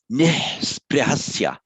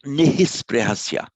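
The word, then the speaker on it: निःस्पृहस्य: another consonant immediately following, you just pronounce the H on its own without the shadow vowel after it. So it's nisprihasya. Nisprihasya, not nihisprihasya, nisprihasya.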